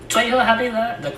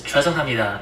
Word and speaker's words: 죄송합니다: I think the worst part is that when he says please is 죄송합니다. It's not even how you pronounce it. It's 죄송합니다.